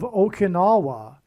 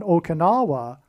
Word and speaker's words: Okinawa: on the island of Okinawa, which rhymes with Obama, as does Inola, the